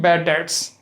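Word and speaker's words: bad debts: तो ऐसे ही यहाँ पे जो उसका लॉस होगा उसको हम बोलते हैं बैड डेट्स, इसमें बी जो है साइलेंट रहता है।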